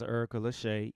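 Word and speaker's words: Erica Leshai: Revolution um like I say her name is Erica Lachey e-r-i-c-a -l-e-s-h-a-i that's her at Erica Lachey she's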